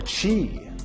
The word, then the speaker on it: Qi: the correct answer is ki Qi or Chi properly pronounced I'm sure we all